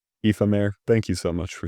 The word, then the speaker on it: Aoife-Maire: Hang on, I want to make sure I'm pronouncing it right. Aoife-Maire W. Aoife-Maire, thank you so much for submitting this, for real.